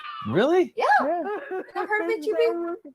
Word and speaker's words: HEB: I've heard of HEB. I always call them Hebs. I think it's pronounced HEB.